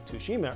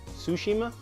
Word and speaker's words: Tsushima: so go step to go sakushima Tsushima to Chima I don't know it's got a silent T in there G ot is a